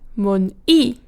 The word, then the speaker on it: mun-i: First of all, the stressed syllable. Mun-i is stressed on the second syllable, mu-ni is stressed on the first syllable. Then we have the placement of the diphthong.